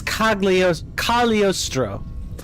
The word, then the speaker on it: Cagliostro: So this is Cagliostro. Remember, the G is silent.